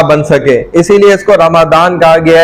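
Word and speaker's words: رمضان: नजर भी आ जाएगा रमदान इसका असल प्रोनाउंस क्या है प्रोनंसिएशन रमदान लोग इसको अलग-अलग गलत नामों से भी पुकारते हैं कोई रमजान भी कहता है ठीक है वो गलत है लेकिन कुरान ने खुद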